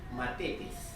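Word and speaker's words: μαθητής: La palabra discípulo tiene en griego, se pronuncia matetes, en griego.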